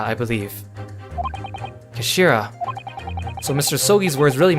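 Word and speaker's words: 頭: end of the hilt it's written as head in Japanese but it's pronounced as Kashira I believe Kashira so Mr so's words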